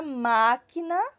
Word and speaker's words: máquina: máquina e a palavra máquina e qual é a sílaba mais forte na não é isso então e aí ela sai com o som bem aberto então eu sei que